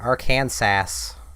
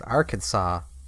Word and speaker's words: Arkansas: of places like that freaking arcane sass that's arkansas it's actually illegal to